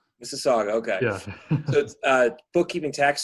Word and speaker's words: Mississauga: i'm sorry i don't even know how to pronounce that i know that's mississauga mississauga okay so uh bookkeeping tax services that's its